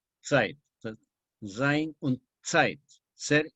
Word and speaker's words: Zeit: Zeit se escribe en alemán con Z, se escribe Zeit, se pronuncia Zeit. La Z en alemán suena TS, Zeit.